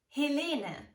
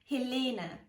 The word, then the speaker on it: Helene: it's of silent also stress the second syllable when pronouncing the name Helena Helena this name is probably